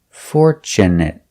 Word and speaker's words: fortunate: next we have fortunate we use the short sound it it fortunate because it's not a verb also with this word we have tu tu in the middle of the word is pronounced chchch and not for but for